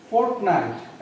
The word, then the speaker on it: fortnight: देखो फॉर ए फॉर्टनट, actually यहाँ पर फॉर ये प्रोनाउंसिएशन है फॉर ए फॉर्टनट. इसका मतलब होता है फॉर ए फोर्टनाइट.